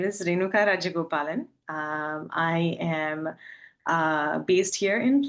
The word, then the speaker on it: Rajagopalan: It's Rajagopalan. So the J is pretty heavy. So it's Rajagopalan. That's not hard at all once I know how to do it.